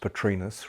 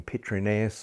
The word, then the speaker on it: Petrus: realized how it was should be pronounced Petrus rather than petres or petrius and I I got